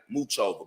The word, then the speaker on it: Muchova: It looks like Muchova, but it's Muchova.